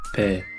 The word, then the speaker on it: ぺ: He with a handakuten is pronounced pe.